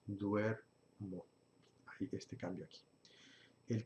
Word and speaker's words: duermo: Y va a decir duermo. En lugar de dormo, estaría mal, decimos duermo.